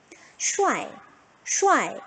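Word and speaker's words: 帅: 슈아이, 슈아이 이렇게 하겠죠.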